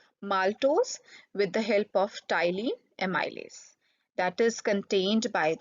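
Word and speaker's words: ptyalin: called Kylene mi Liz this P is silent here tiling mi Liz or you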